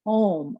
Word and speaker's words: Om: really a three-part sound it's spelled o m but it's really uh from all the teachers that it it's really like it's got more sellables than that it's an ah um just the